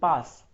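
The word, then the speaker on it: PaaS: in a different manner it is i ask and sas s-a-a-a you need to read like that and pass that's the best way of pronouncing it so i ask sas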